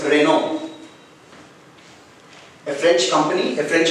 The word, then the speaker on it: Renault: So coming here, the 19th one, it's Renault, a French company, a French automobile company, R-E-N-A-U-L-T. As it has been wrongly pronounced as Renault, it's not Renault, it's Renault.